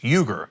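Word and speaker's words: Uyghur: but by the way another pronunciation of we are is you ger like my last name it is the same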